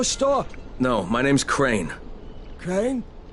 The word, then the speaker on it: Crane: no my name's crane crane crane rhymes with train and brain and sign and grain and rain and plain and the other kind of plane and and can i